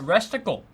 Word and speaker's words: Resticle: Resticle rhymes with testicle.